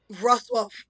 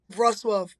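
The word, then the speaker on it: Wrocław: Ruswuff. It is It's like It looks like W R O C L A W I believe. But their W's are a V sound.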